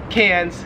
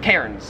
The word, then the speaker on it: Cairns: call melbourne melbourne and we call cans cairns because there's like an r there well my question for